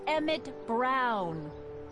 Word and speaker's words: Emmett Brown: That's Emmett Brown. Rhymes with clown, which I'm beginning to think you are.